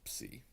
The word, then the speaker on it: psi: So if you add an S to a P ending word, you'll actually change the letter to a psi. And that becomes important down the road. And that's, again, pronounced psi.